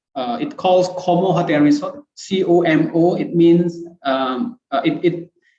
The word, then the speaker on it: COMO: calls como hotel resort c-o-m-o it means it it pronounced como it's not homo como means christina or